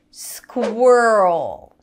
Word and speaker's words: squirrel: at a few words squirrel yes i started with this word swirl squirrel here after the squa we have er and dark l o squir lift the